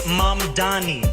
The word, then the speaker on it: Mamdani: Cuomo, and furthermore, the name is Mamdani.